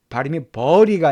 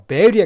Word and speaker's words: bury: 그리고 야곱이 어떻게 했냐면 bury, 이거 발음이 버리가 아니라 bury에 가깝습니다.